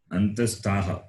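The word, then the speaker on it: अन्तःस्थाः: Antastaha.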